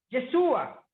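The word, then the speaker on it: ישוע: kirchner que se mire jesús en el hebreo se pronuncia quechua que quiere decir el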